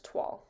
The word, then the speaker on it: toile: is called Blue French TW yes it is pronounced TW I did a lot of research on it